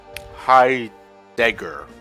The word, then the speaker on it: Heidegger: Heidegger. I think that's how you pronounce his name.